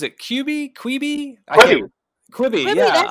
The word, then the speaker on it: Quibi: Quibi, Quibi, yeah.